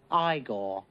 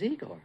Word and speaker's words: Igor: it's Frederick Frankenstein I see you must be eigor no it's pronounced igore but they told me it was eigor well they were wrong then weren't they hello